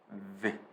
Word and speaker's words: the: 요거를 다 대부분 한국 사람들 디귿으로 그냥 드로 발음해버려요. 근데 혀 끝이 절대 천장에 닿으면 안 돼요.